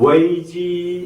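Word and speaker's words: 危机: 서로 사마귀 아니할세의 그처럼 위기 중국어는 웨이지 이렇게 발음합니다 위기 웨이지 그래서 이분이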